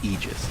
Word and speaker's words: Aegis: frog made a point okay so the correct pronunciation technically speaking of ages is aegis it's a literal word we're going to see